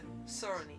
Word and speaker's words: Tsurune: I think it's pronounced actually the Tsurune. Tsurune.